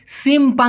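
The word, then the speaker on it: simpang: সেই পানের মত হ্যা আর রাস্তার মোড়ের ক্ষেত্রে হল সিমপংচি লাস্টে যে অনেশর সেই অং ঠিক আছে সিমপং ক্লিয়ার ব্যাপারটা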